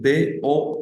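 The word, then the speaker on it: douze: una manera de diferenciarlos primero la pronunciación de la O U en el 12 que suena do y en el dos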